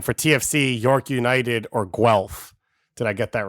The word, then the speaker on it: Guelph: I don't understand how Guelph to you was an interesting pronunciation. By the way, David, like it sounds like how it's spelled.